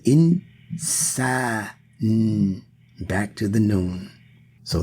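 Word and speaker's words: إنسان: So insan, if you listen to the pronunciation, say it slow. Insan. In. There's no vowel given to that first nun or that first n. But there is a vowel given to that letter sin.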